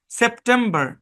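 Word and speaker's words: September: প্রথম অংশের উচ্চারণ সেপ, পরের অংশের উচ্চারণ টেম, পরের অংশের উচ্চারণ বার। তাহলে সম্পূর্ণ শব্দের উচ্চারণ সেপ্টেম্বর, সেপ্টেম্বর, সেপ্টেম্বর, সেপ্টেম্বর।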